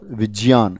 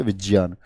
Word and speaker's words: विज्ञान: गणित और विज्ञान, विज्ञान शब्द सही नहीं होता है उच्चारण की दृष्टि से, क्या होता है? विज्ञान।